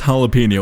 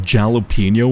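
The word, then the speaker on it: jalapeño: But like, yeah, no, like, I used to pronounce jalapeno, and this is rather embarrassing to admit, as jalapeno when I was young. Like jalapeno, because I didn't know the J was supposed to be an H, alright?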